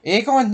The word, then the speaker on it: Aegon: Aegon, yeah, no, I've watched. I called him Egan.